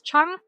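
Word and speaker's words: cheong: Um, but Keith, to answer your question about what is Chung, um, it is a Korean preserve with equal volumes of fruit and sugar.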